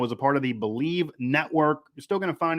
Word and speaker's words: Bleav: network on twitter and that is b l e a v by the way but it is pronounced believe also everywhere they have